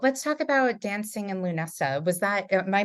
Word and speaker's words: Lughnasa: So let's talk about dancing in Lunessa. Am I pronouncing it correctly? It's Lunasa. Lunasa.